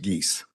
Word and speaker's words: Geis: And if I may correct the court, the last name is pronounced Geese. Geese, sorry about that. As in Canada geese.